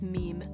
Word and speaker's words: meme: you pronounce it right it's not mimi it's it's meme i know that very